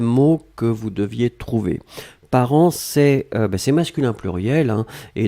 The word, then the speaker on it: parents: on l'écrit au pluriel ici part1 nts d'accord par an on prononce pas le thé on prononce pas lui